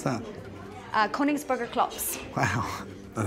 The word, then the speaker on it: Königsberger Klops: How do you pronounce that? Königsberger Klops.